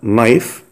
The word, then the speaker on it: knife: ناخد الاول extra vocabulary للكلمات الاضافية، sugar اللي هو السكر، sugar knife حرف K حرف silent يكتب ولا ينطق، knife dish اللي هو الطبق، dish.